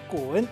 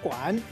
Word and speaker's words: 拳: 今仔日小解这一日读作滚，另外文音读作管，提供予观众朋友来参考。